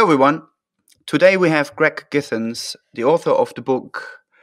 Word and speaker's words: Githens: okay hello everyone so today we have greg kittens sorry am i pronouncing you're right your name right actually yes you are okay now start again hello everyone today we have greg githens the author of the book how did how